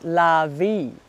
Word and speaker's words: larvae: Hey, Charlie's saying larvae is pronounced lavie. Lavie? There you go. Say lavie. Say lavie.